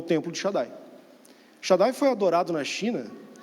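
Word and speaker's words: Shaddai: e a pronúncia desse nome Xandi seria mais próximo de Shadai Shadai alguém consegue fazer associação com alguma coisa é o Shadai que nós temos na Bíblia os israelitas é o Shadai e a pronúncia seria Shadai é retratado que esse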